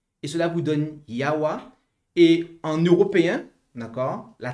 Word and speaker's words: Yahweh: Mais pour avoir sa prononciation, eh bien, vous prenez les voyelles de Adonai que vous intercalez en fait entre les consonnes YHWH et cela vous donne Yahweh.